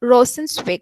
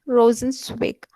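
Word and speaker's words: Rosenzweig: jonas raja um respected professor rosie singh franz rosensweig i'm no i'm not sure if i'm pronouncing it correct franco en said w-e-i-g franz rosen swig uh was a jewish jewish existential thinker from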